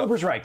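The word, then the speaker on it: Ubersreik: yeah uh is it Uber streak uh Uber's Reich yeah right correct yep yep I think Rick I think you're actually saying it right uh uh it'd be IE if it would be reek okay so somewhere in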